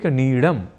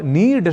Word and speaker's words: नीड: है घोंसला या आश्रय पर हम में से कई लोग अक्सर इस नीड शब्द को बोल और लिख जाते हैं नीड इस रूप में यानी यत्र विश्वम भवती का डम कहना हो तो हम कह जाते हैं य विश्वम भवत नीरम और ऐसा कहते ही